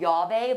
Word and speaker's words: Llave: So this is a new tequila we just picked up, and it's called Llave, like in the Spanish word keys, but not spelled that way. Okay. But that's the way it's pronounced, like Llave.